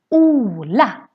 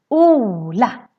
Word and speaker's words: Ola: a Swedish name and to say this Swedish name pray you need to pronounce that Oh in this long version and this name is Ola Ola just one confident coming after so that's why they owe it gets really really long oh yeah we also